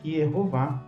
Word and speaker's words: Yehováh: mas na verdade é de conhecimento de quem estuda o hebraico bíblico massorético que está preservada a pronúncia eov claramente tem gente que